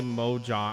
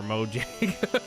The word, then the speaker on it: Mojang: We should all play Mojang.